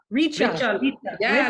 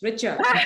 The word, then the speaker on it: Richa: Yeah, Richa. Like you want to be really rich, Richa.